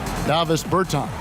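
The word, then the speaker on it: Dāvis Bertāns: Davis Bertans.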